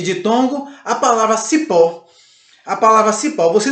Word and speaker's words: cipó: A palavra cipó, você não diz cipó, você diz cipó, ok? O pó você percebe que ela fica mais evidente. O O você percebe que tem uma tonicidade forte e por isso é uma sílaba tônica.